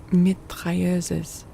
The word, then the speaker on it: mitrailleuse: This outpouring was accompanied by rapid detonations, like the discharge of a battery of mitrailleuses. That's a very French-looking word. I don't know if there's an English pronunciation of that.